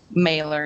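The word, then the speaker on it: Mahler: It pronounced Mailer? Mailer, yes.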